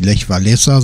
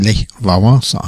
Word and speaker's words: Lech Wałęsa: Da ist es dieses L mit dem Strich durch. Weshalb der ehemalige Gewerkschaftschef und späterer Staatspräsident auch nicht Lech Walesa, sondern Lech Wałęsa heißt.